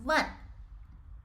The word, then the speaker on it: 万: This character is pronounced as 万. 万. 万. So if you have trouble pronouncing this tone, you can just use your upper teeth to bite your lower lips and just pronounce 万.